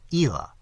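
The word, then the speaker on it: Islay: pressed on my attention what he called Ela, which is spelt, I found, I-S-L-A-Y.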